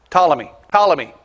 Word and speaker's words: Ptolemy: It was a P word. Ptolemy. It is P, it's spelled with a P.